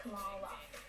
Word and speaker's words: Kamala: My name is pronounced Kamala.